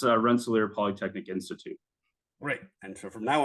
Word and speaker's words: Rensselaer Polytechnic Institute: So can you please tell us exactly how to pronounce RPI properly, in the full context of the name? Yeah, it's Rensselaer Polytechnic Institute.